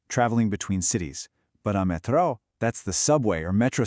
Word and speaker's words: metrô: See that accent again? It tells you the stress is on that last syllable. So, it's metro.